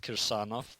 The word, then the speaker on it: Kirsanov: name so it's fine in Russian it's pronounced kirsanov but you can just